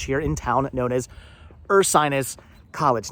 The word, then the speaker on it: Ursinus: It's spelled with a U, but it's pronounced Ursinus, like a bear, like the constellation, like Sinus, not Ursinus.